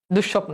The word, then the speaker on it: দুঃস্বপ্ন: দেখ দুঃস্বপ্ন। এইযে দেখ সটা দুইবার উচ্চারণ হচ্ছে। আগে বুঝাও দুষ দেখো দুষ একটা স দুষ সব দেখো আরেকটা স দুষ একটা স দুষ দুষ সব দুঃস্বপ্ন ঠিক আছে বুঝতে আচ্ছা